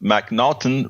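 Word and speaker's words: M'Naghten: should be familiar with the Mac the mnon pronounced mnon rule which states that an individual suffers from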